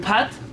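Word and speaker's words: פת: Pat Pat. with an a, not an a. Uh, So not pot.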